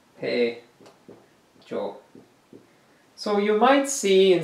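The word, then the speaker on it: 폐조: In Korean, it is Paejo. Paejo. Pronounced Paejo.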